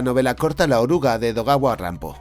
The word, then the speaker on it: Edogawa Rampo: Un buen ejemplo de esto sería la novela corta La oruga de Edogawa Rampo. El seudónimo Edogawa Rampo es de hecho Edgar Allan Poe pronunciado a la japonesa.